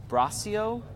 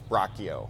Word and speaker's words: Bracchio: Bracio? Bracio. No. No? You know how it goes on this show. Bracio. No, it's Bracchio.